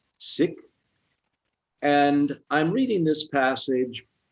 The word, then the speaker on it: Sikh: of the sikh faith some say seek but the proper pronunciation is sick and i'm reading this passage because we have just commemorated 9 11.